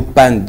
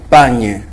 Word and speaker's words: panne: Mais aussi certaines personnes qui prononcent très mal le mot panne. Déjà ils disent pagne.